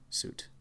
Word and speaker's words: suit: suggestible, suggestion, suggestive, suicide, suit, rhymes with boot, suit, suitable, suitcase, sweet,